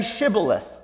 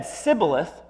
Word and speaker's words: shibboleth: no they said okay say shibboleth if they said sibilith because he could not pronounce the word correctly They seized him and